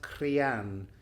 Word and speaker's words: Critheann: In Gaelic, it's spelled Crithian, Critheann, but it's pronounced Crian.